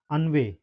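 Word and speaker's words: ennui: अगला वर्ड है अनवेय। ठीक है? अन्वय मींस क्या होता है? विरक्ति। विरक्ति। ठीक है? ग्लानी। ग्लान या उदासी। ठीक है? इसको क्या प्रोनाउंस करेंगे? अन्वे। ठीक है? अन्वय इसको प्रोनाउंस करेंगे।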